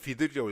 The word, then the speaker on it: BUIDL: 오늘 그 블랙록 빌드 그냥 비들인데 사실 비들이라고 읽어야 되는데 그냥 빌드 펀드라고 편하게 읽는데 하여튼 그 기존에음